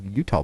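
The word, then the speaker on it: Eutaw: Utah, Alabama is spelled E-U-T-A-W. What? It is spelled the way that it sounds.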